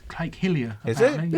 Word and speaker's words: Hylia: How do you pronounce the lake in the? Lake Hyrule. Hylia. It's Lake Hillier.